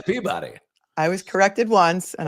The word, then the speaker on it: Peabody: and by the way they don't say and that journalist is the winner of the pebbi award they say the peabody I was corrected once